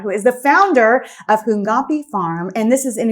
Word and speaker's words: Hunkapi: Hunkapi.